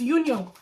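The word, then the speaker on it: 윤영: Is her name Nu-young or Yoon-young? I keep mixing it. It's Yoon-young.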